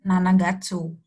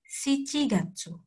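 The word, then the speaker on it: 七月: ketujuh atau bulan Juli bukan nanagatsu nanagatsu itu kan tuju juga ya artinya Nana itu kan tujuh tapi kita memakainya siigatsu siigatsu siich Gatsu bulan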